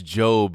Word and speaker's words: Job: By the way, I know it's Job, you absolute fucking psychos. I know you're shitting your pants out there. A bunch of people just deleted shit. But it's spelled job, so I don't know what you want to do.